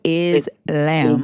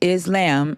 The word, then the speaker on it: Islam: So it says that the Arabic pronunciation is the long a. So it's islam. Exactly. Islam.